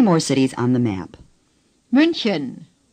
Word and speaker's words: München: The CH is similar to the way we pronounce the beginning sound in human or huge. Just breathe out a little more forcefully. Chen. Say Chen. Chen. Say München. München.